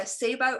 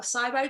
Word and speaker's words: SIBO: transitory as well um there's also sibo or cybo depending on what part of the world you live in you may pronounce it differently bile acid diarrhea absolutely